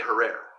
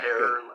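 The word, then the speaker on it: Herer: Hare, like terror. People say Herrera, but that's not how you spell it. Herrer. Okay. Hair, and he'll tell you when you meet him, it's hair like terror.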